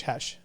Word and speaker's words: Khash: K-H-A-S-H, Hesh. Oh, Hesh. It's pronounced Hesh, spelled That's Cash.